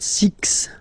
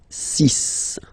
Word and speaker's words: six: be careful here because even if it's ending with this x well you'll have to pronounce it like s okay so you get the sis pronunciation s sis okay so it's not six it's sis all right then here